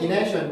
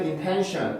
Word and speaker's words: intention: ination 왜냐면 여기가 T가 음절의 시작이고 강세가 여기 있잖아요. 그죠? 강세가 여기 때문에 이거는 intention 이라고 발음을 하지 ination 이라고 하는 사람은 본 적은 없는 것 같아요.